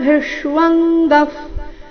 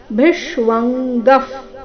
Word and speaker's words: ಭಿಷ್ವಂಗಃ: ಸ ಮೇಲೆ ಆಘಾತ ಅಸಕ್ತಿರನ ಭಿಶ್ವಂಗಫ್ ಭಿಶ್ವಂಗಫ್ ಭಿ ನಂತರ ಅರ್ಧ ಮೂರ್ಧನ್ಯ ಶೂರ್ತಿ ವ ಸಂಯುಕ್ತಾಕ್ಷರ ಭಿಷ್ವಾಂಗಫ್ ಭಿಷ್ವ ಆದ ನಂತರ ಕ ವರ್ಗ ಅನುನಾಸಿಕ ಮತ್ತೆ ಗ ಸೇರಿ ಸಂಯುಕ್ತಾಕ್ಷರ ಮುಂದಿನ ವಿಸರ್ಗದ ಉಚ್ಚಾರಣೆ ಅರ್ಧ ಫ ರೀತಿ ಈ ಚರಣದಲ್ಲಿ ಎಲ್ಲಾ ಅಕ್ಷರಗಳು